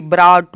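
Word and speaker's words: brought: ट बी आर ओ यू जी एस टी ब्राउट ब्राउट मतलब होता है लाया एल ए यू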